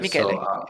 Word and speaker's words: Michele: Michele, Michele is the pronunciation, but Michelle.